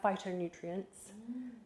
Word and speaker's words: phytonutrients: Then we have phytonutrients. Now, I know phytonutrients is spelt with a PH, but we say it with an F, right?